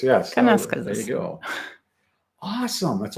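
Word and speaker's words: Kananaskis: Yeah, Kanaskasis. Yes. Kanaskasis.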